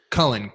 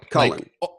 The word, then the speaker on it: Kullin: Kullin as well, or yep, how do you pronounce it? Kullin. Kullin.